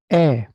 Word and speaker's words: ㅐ: Slim कर दीजिए एच को, इंग्लिश वाले एच को, कैपिटल एच को। ये शेप बन जाएगी। इस शेप को 5 बार लिखिए। और इसको अब इसका उच्चारण देखते हैं। उच्चारण है ए।